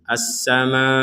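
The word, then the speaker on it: السَّمَاءِ: Assama penekanan nanti di Hamzah karena huruf terakhirnya hamzah. Kita ulangi lagi.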